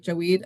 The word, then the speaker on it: Javed: phonetically it's like Jaweed, and his last name is Kaleem, Kaleem.